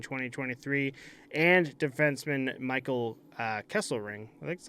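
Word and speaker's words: Kesselring: round pick in 2023 and defenseman Michael uh Kessel ring that's how you say it the coyotes will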